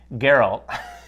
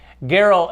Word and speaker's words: Geralt: We're talking about, I'm going to pronounce it right, Geralt. Not Gerald? Not Jerry. Geralt and all the characters